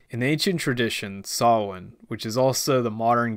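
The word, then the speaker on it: Samhain: garlic festival of solon hilariously mispronounced as sam hain in the sequel in ancient tradition sawin which is also the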